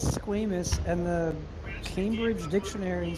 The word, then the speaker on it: squamous: cells oh my gosh squamous cells come on I thought it was Squam yeah if you want to say it wrong you can say Squam what if I do